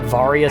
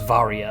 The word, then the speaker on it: Varia: I always, as a kid, pronounced it Varia suit, but Varia sounds right because the Varia suit is a mistranslation. It was called the barrier suit in Japan, and much like a